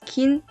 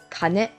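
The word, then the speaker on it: 金: Friday has pronunciations kin, kin. The pronunciations kin and kane. Kin can be used in kinyoubi, and kane can be used in okane. Kinyoubi means Friday. Okane means money. The Chinese pronunciation is jin.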